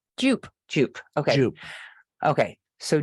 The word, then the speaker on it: Jupe: It's Jupe.